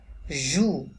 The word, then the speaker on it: jouent: maison ainsi mes enfants jouent third person plural conjugation that's why ent silent তাহলে আমাদের উচ্চারণ করতে